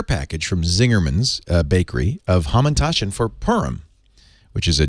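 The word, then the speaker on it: Hamantaschen: So these should be pronounced Hamantashen. Hamantashen.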